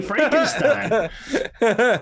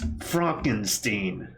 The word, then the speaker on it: Frankenstein: Because he sounded genuinely offended when people would say Frankenstein. He's like, it's Fronkensteen.